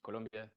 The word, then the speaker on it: Colombia: bota this is the capital of Colombia yes pronounced Colombia um this is where I was born and